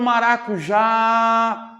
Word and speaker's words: maracujá: maracujá vamos vender comigo Olha o maracujá demora mais tempo onde no já concorda comigo se demora